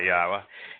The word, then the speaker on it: Yahowah: you I was asked to do so by yahwah he happens to be the god of uh